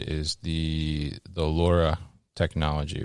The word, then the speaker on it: LoRa: right is the the Laura technology right which is l r a but I I was told to pronounce just like the lady's name Laura right absolutely yeah so